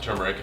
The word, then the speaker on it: turmeric: turmeric sometimes it can be mispronounced but it's pronounced turmeric and it is part of the ginger family